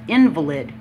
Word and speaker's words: invalid: the word invalid with invalid invalid means you're injured or disabled invalid has the accent on the vowel syllable it's an adjective meaning